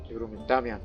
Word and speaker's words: Damian: Damian, that's how it's pronounced, is approaching, all singing a wanted song about their sexual escapades.